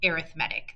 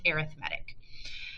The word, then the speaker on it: arithmetic: reason it is pronounced arithmetic this has to do with like grammar and the fact that it's an adjective rather i don't it